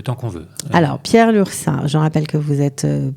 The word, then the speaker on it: Lurçat: Lursa, ça s'écrit Lurcat. Voilà.